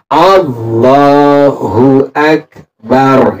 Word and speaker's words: Allahu Akbar: pertama mengucapkan ingat ya Allah bukan karena dia Allahu Akbar Ya Allahu Akbar bukan Oh tapi a Allahu